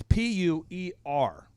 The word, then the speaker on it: puer: it's a latin word it's p-u-e-r and it's puer and what it refers